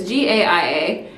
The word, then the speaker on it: Gaia: I still can't pronounce it, but it's Gaia.